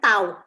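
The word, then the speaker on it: ת: Huruf T itu pelafalannya tuh tau.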